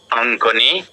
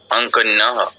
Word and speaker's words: অঙ্কন্যৌ: আচ্ছা, অঙ্ক নৌ কেন হবে? ইয়ফলাটা তো বাদ দিয়ে দিচ্ছেন। অঙ্কনিও, অঙ্কন, উচ্চারণটা এরকম, অঙ্কনিও, অঙ্কনিও। হ্যাঁ, অঙ্কন্যৌ। আপনি যদি বলতে বাদ দিয়ে দেন, আপনি লিখতে গেলেও বাদ পড়ে যাবে। ঠিক আছে, তো বলার সময় অবশ্যই কেয়ারফুলি বলতে হবে।